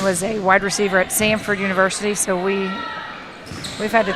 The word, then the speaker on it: Samford: And I said, "You're saying it wrong. It's Sanford." And he's like, "No, Samford."